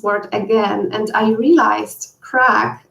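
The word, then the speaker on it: craic: again and i realized crack is an irish word for fun same pronunciation just different spelling what i also loved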